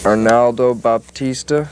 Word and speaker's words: Arnaldo Baptista: Arnaldo Baptista. Is that how you pronounce his name?